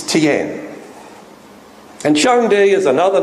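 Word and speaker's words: 天: It's not Tian. That's how the Australians would say it. It's Tian.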